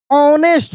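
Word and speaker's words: honest: The village teacher judged the night to बी ऑनेस्ट, अब देखिए H silent है, क्या पढ़ेंगे, ऑनेस्ट एंड हेल्पफुल।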